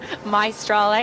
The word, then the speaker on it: Maestrale: Maestrale, and that's how it's spelled as well, like Meister.